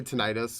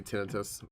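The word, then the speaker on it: tinnitus: Um, I I know some people say tenitis. We always say tinitus. It's the way our doctor always pronounced it.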